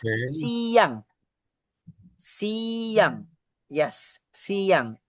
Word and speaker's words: siang: We pronounce it as siang.